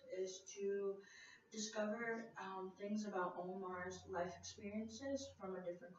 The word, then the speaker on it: Omar: My name is Omar, but it's like pronounced Omar in Arabic.